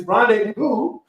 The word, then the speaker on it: rendezvous: There's a Z in the middle of the word, and you don't pronounce the Z. It's Rendezvous.